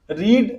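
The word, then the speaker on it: read: जाएगा यू हैड रीड रेड रेड spelling same रहता है यू हैड रेड देखि जो रीड होता है ना स्पेलिंग सेम होता है रीड हम नहीं पते रीड रेड रेड पते प्रोना चेंज होता है इसम आ जाइए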